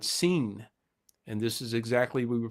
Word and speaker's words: Sin: scen so it's pronounced scen but it spelled uh SI i n as we would think of the word sin but it's actually the god seen and this is exactly